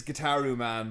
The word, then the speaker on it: Gitaroo Man: pronunciations yeah it's yes so it is guitar ooh man but I was reading us the way I wrote this which was wrong the reason I am